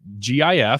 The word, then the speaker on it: GIF: jill just tweeted that gif stands for graphical interchange format so it's a hard g good graphic it's not giraffic carlo on facebook says